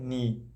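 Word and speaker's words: knee: आपको बता दो कि जैसे के एन वाले जो भी वर्ड होते हैं उनमें आगे का जो वर्ड होता है के साइलेंट रहता है। कोई भी वर्ड अगर के एन से स्टार्ट होता है तो एन से पहले जो के आता है वो साइलेंट हमेशा ही रहता है, जैसे कि नेप हुआ,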